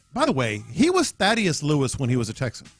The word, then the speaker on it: Thaddeus Lewis: And now he's Tad Lewis. Yeah, no, he was that his whole time in the league. Or Thad. Okay, I was about to say, I was like, however he pronounces it. It was always Thaddeus Lewis.